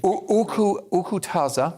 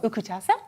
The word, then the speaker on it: Ukuthasa: Ukutaza. Ukutaza, that's right. And it's spelled UKUTHASA.